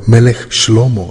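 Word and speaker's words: מלך שלמה: It all started with King Solomon, or Melech Shlomo as it is pronounced in Hebrew.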